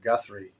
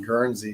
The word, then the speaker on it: Guthrie: I keep saying it wrong. Guthrie. Guthrie. I kept saying Guernsey, but that's actually Wyoming.